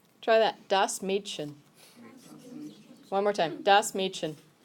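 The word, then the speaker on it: Mädchen: the actual word for girl yeah okay it's pronounced Meechan try that dust Meechan one more time das machen the dust part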